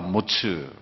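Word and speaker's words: מץ: 히브리어는 에츠와 모츠.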